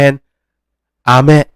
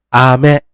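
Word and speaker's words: あめ: ลูก อม เนาะ อ่า การ ออก เสียง ลูก อม นะ ครับ จะ ออก เสียง เป็น อาเมะ อาเมะ ตัว อะ แล้ว ก็ ตัว แมะ อาเมะ อาเมะ อาเมะ โอเค ตัว อะ กับ ตัว เมะ เป็น อาเมะ โอเค นะ ส่วน ฝน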